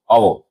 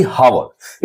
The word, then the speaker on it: hour: जैसे अगर हम लोग बात करें आवर, इसे हम लोग पढ़ते हैं HOUR को हम लोग पढ़ते हैं आवर, ना कि हावर।